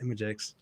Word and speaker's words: ImageX: i worked at imagex that's how you pronounce it imagex uh mjx i'm just nobody in their right mind can pronounce it right so don't even worry